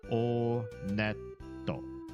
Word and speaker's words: Onet: It is pronounced Onet. I did check the Japanese pronunciation. And in Japanese, when you go to this first town, they pronounce it Oneto. Oneto. So, Onet.